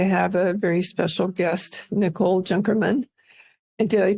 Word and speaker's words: Nicole Junkerman: excited today to have a very special guest Nicole junkerman and did I pronounce that correctly you did oh good I